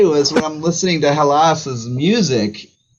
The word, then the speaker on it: Hallas: name of everything but it is halas correct or is it like how am i what is the proper way to say it for an english jerk like me you could say it that way i say hellas okay okay i want